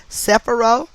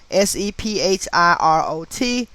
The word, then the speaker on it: Sephirot: These circles are known collectively as Sephirot, Sephirot, or, Sephirot, Sefirot, and individually as Sephirah, Sephirah, or Sephirah, Sephirah.